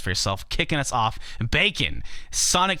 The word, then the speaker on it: B4KN: Kicking us off, Bacon, Sonic 2, the Mystic Cave Zone remix. This actually, Bacon is spelled B4KN, and that is a play on John Bacon, which is his real last name, aka John from George and Jonathan.